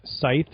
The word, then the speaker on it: The Scythe: 2007 release of the Scythe or Sky I can never pronounced that word right okay the S yeah we pronounce the scite but we're Italian the yeah that was